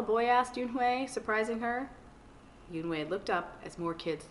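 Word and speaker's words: Unhei: no yoon wei corrected it's spelled u-n-e-h-e-i it's pronounced yoon way oh you hey the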